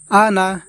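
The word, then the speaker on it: أَنَا: ওয়ালা আনা আনা এখানে আমাদেরকে টান দেওয়া যাবে না, আনা এইভাবে পড়তে হবে।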